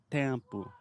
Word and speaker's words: tempo: conectado a pronúncia e na palavra tempo é tão interessante porque você fala tempo e daí você fala por exemplo é empo é uma vogal nasal Eu acho que